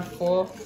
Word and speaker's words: pho: This is instant chicken pho. Because of Vietnamese noodle soup, it's actually pronounced pho, not pho.